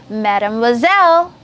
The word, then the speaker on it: mademoiselle: And if it's a girl and unmarried girls, then it's going to be mademoiselle.